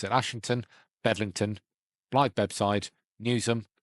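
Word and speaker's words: Newsham: that the do matri can't pronounce it properly but it's newsum not new not newsum newsum you've been warned em 640 something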